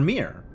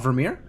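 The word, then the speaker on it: Virmire: Ver ver Vermeere. Ver V ver Vermeere. Not Vermeier. H how would you say that?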